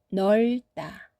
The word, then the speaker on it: 넓다: 르브, 르트, 르스, 르흐 이런 조합, 자음 조합에서도 을 소리만 선택해서 발음합니다. 따라 읽어보세요. 넓다, 넓다, 훑다, 훑다, 외골, 외골, 잃다, 그리고 잃다.